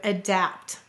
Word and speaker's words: adapt: the vowels clearly so which syllable is stressed in the word adapt notice the first syllable uh is lazy it's a schw sound the second syllable dapt you hear the a clearly it is stressed we will say to